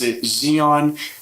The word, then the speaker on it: Zhiyun: two today we have the Zion for some pronounced Xenon cream three gimbal I kind of cheated and